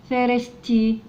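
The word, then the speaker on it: thirsty: على الار ثير ندخل على الاس ثيرست والواي تنطق ياء ثيرستي ثيرستي يعني عطشان اسمها ايه ثيرستي زي كده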